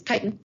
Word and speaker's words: chitin: all right chitin and that's how this is pronounced it's not chitten it is titan um is another word for stroke structural polysaccharide